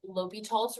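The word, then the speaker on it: L'Hôpital: later in your packet, but it was called L'Hopital's rule. So if you'll write that up here at the top, it's spelled L'Hospital.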